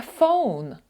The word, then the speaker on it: Phone: слова Phone У нас є буквосполучення pH і воно читається як F не як F а як ф буква називається F а читається pH як I have a